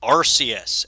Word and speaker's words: Arceus: have saved well here we go this is arceus and before you ask i am going with the dr house official pronunciation uh arceus is found only here in